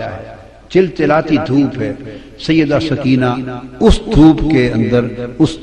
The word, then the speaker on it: سکینہ: لخت جگر شہزادی سیدہ سکینہ، اصل نام ان کا عربی وزن میں سکینہ ہے، عرف عام میں سکینہ چلتا ہے، مگر اصل لفظ سکینہ۔ سیدہ میں عرف عام